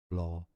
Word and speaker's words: Blåhaj: Well, there's a video on how to pronounce that name. The name of the store. Stay tuned. Blahoj is how it is said in Swedish.